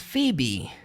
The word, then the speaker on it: Phoebe: Ela disse, this is Phoebe. Olha só o jeito que é escrito o nome dela. Se escreve Poebe com PH, mas você fala Phoebe.